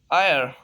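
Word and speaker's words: heir: आयर, एयर, आयर mean वारिस। नवा rule है, ninth rule of this silent letter is, अगर किसी लफ्ज में यू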